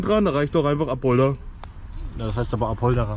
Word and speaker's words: Apolda: Wie spricht man das aus? Apolda, ja.